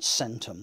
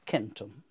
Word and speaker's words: centum: Whereas I hope some of you will know that in Latin, C is never pronounced like an S. So the word for 100 isn't centum, but centum.